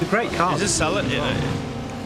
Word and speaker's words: Celica: Is this Celica? I'd say Celica. Is this is this Celica or Celica? I've Celica, but I think Americans especially can be more prone to pronouncing it Celica.